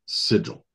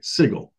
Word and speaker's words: Sigil: planer Crossroads sits a city named sigil or sorry sigle not sigil apparently they wanted it